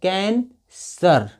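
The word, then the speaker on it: cancer: और सी ई आर से सी के बाद ए है तो यहाँ पे सी का उच्चारण स होगा, तो हो गया कैंसर।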